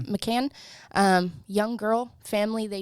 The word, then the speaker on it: McCann: the disappearance of madeline mccain i think is how you say it okay mccann um young girl family